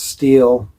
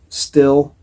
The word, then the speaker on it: Stihl: start and run my steel chainsaw it's pronounced steel according to the company it's s-t-i-h-l a lot of people call it still I have the Wood